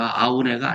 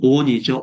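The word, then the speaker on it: Aune: 아우네가 아니라이 사람은 미국에서 활동하고 있는 사람이기 때문에 데이빗 온이죠. 온. 예. 그래서 온이라고 번역을 해야 되고이 사람을 제가 학교에 직접 만나서 한국에서 당신 이름을 아우네라 그런다 그랬더니 웃어요.이 독일식 발음이 아닌데 어 자기는 어 온으로 불러 달라.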